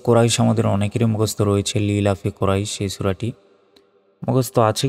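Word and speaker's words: لِإِيلَافِ: আমরা অনেকে বলি লি লাফি, এখানে বলি যে লি লাফি কুরাইশ, সম্পূর্ণ ভুল এটা। দেখুন এখানে লি, লি এর পর ই, ই বলতে হবে।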